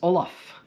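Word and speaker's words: Ollam: thank you yeah yes Olaf Oh ll am is pronounced Olaf and if you wonder why you could say it's actually originally spelled Oh L L AM H and when you say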